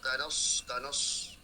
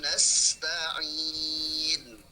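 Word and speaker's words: نستعين: Nah, kalau saya dengar tadi, kakaknya baca itu seperti tidak senyum, karena bacanya seperti huruf sol. Kanos. Nah, jadi harus senyum. Kanas ta'in nah, ada desisanya teman-teman. Iyyaka na'budu wa iyyaka nasta'in.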